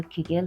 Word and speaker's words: Kegel: روی کجا تمرکز داره تمرینات کگل که حالا کیگل هم تلفظ میشه روی عضلات کف لگن